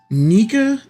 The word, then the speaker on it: Nika: Sound effect pronounced Nika in Japanese.